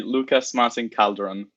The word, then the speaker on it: Lucas Martín Calderón: time alright so once again it would be Lucas Martin caldron there we go what a name I love